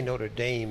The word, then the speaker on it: Notre Dame: Notre Notre Dame yeah say not notame we say Notre Dame and I have a